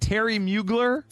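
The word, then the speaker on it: Thierry Mugler: right there 219 thanks for that is it Terry mugler yes that's the one but it's spelled weird it's t h i e r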